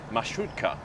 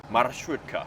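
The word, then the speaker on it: маршрутка: Marshrutka. Marshrutka. Marshrutka. Need to pronounce the R sound.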